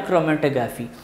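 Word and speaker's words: chromatography: Next है paper क्रोमेटोग्राफी, paper इसको क्रोमो, here H is silent, तो इसको हम क्रोमेटोग्राफ पढ़ेंगे या क्रोमेटोग्राफी पढ़ेंगे।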